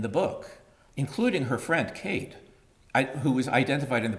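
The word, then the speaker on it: Caen: right but it's pronounced ka because in French there are four letters and three are not pronounced so ka and uh he he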